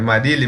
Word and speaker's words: Marili: lá primeiro eu queria saber se eu tô pronunciando o seu nome correto é Marili mesmo isso é marido Ah tá é que